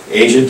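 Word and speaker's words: Aja: When I first heard your name, I'm like, Asia, oh, I gotta meet her. I thought you were gonna be Asian. But it's spelled A-J-A.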